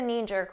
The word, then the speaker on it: knee-jerk: let's talk about KN notice the K is silent you don't hear it at all KN KN this happens